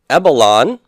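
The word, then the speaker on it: ἔβαλον: Ebalon, pronounced exactly the same way, but spelled with a single lambda, I threw.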